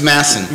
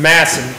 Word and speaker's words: Masson: definitely recommend is Doug I always mispronounce it it's Masson Masson Doug Masson um www.